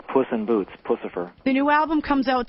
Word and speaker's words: Puscifer: lot of questions as to exactly how to pronounce it I've been saying Puscifer so that is correct correct okay a couple